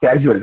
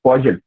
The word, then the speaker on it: causal: It is not casual, it is causal.